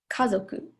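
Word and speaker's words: 家族: was type one which for sure is high low low so like Kazoku so you can kind of hear like the stress on the first mora kah and I don't know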